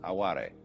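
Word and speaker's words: あわれ: Japanese is called aware it's spelled like our word a only pronounced aware and this like yugen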